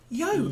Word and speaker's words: yolk: Yolk. Yolk. Yolk. Yolk. Like joke with a Y.